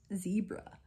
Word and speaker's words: zebra: zebra plant I I interchangeably say zebra and zebra I don't it doesn't matter but I say zebra plant and she and and this girl my group goes zebra it's zebra why do you say it like that zebra Australians say zebra and she just like